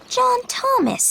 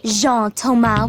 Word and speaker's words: Jean-Thomas: separated that zebra thing john thomas eh no zhang with a soft j well jean thomas with a soft j